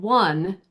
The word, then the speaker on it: one: So, what happens with the word one? We actually pronounce the o ne the same as we do wo n. I won the game, right? They're the same. They sound the same.